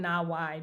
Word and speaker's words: NAWAI: So for our our our launch for Nawe Nai, we're pronouncing it Nawawaii because that's a beautiful Hawaiian word that means connecting rivers.